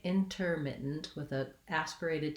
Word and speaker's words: intermittent: You don't really want a lot of emphasis. And then we have our lax I vowel in our mit syllable, intermittent. This T, I will typically, and Americans will typically use a stopped T, which means that I don't say mit and release the air.